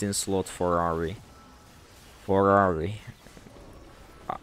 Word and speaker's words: Ahri: For Ahri. I pronounce it like Ferrari.